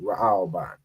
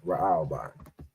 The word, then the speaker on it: Raahwban: All right, so Reuben in the Hebrew would be Ra'alban, right? So that would be I spell that, it would be RAAHWBAN, right? Ra'alban.